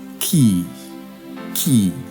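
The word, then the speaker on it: quay: are k-e-y and q-u-a-y both of them are pronounced as Ki key each of these words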